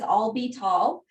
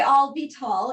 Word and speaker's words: Avital: to say my name siri actually thinks my name is all be tall and you could just say i'll be tall and those of you